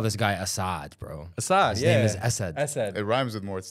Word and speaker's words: Assad: You call this guy Assad, bro. Assad, His yeah. His name is Assad. Assad. It rhymes with more stuff when it's Assad. It's not like Assad the Bad.